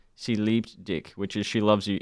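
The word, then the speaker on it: Sie liebt dich: Germany and it was I think it's pronounced she leaped dick which is she loves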